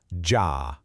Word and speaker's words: ja: Building block number one, ja. Pretty simple, right? It sounds just like yah in yacht.